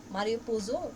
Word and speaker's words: Mario Puzo: Mario Puzo, I think that's the pronunciation, yeah.